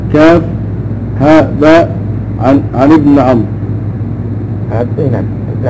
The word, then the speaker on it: عمرو: عن ابن عمرو. نعم، ابن عمرو عبد الله بن عمرو بن العاص. يفرقون بين عمر وعمر بالواو، وضعوا الواو، فصار الناس الان ينطقونها عمرو، وهذا خطا.